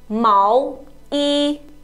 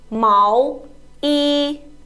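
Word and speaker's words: 毛衣: of clothes uh you should know how to pronounce it right so sweater is called Mao e Mao e Mao e Mao e Mao e very good so let's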